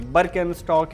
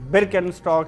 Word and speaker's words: Birkenstock: हम यह बता दें कि इसकी स्पेलिंग जो भी हो अमेरिका में इसे बरकन स्टॉक बोलते हैं। तो वहीं जर्मनी जहां इस ब्रांड का जन्म हुआ वहां इसे बरकिन स्टॉक ही कहते हैं।